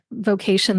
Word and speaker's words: VOcation: That's spelled just like vocation, the word, but it's vocation, like voiceover. VO stands for voiceover.